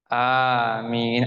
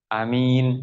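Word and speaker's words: آمين: Yang fasih itu 2 alif. Amin. Artinya apa? Kabulkan ya Allah. Kalau dibaca amin, artinya orang yang amanah.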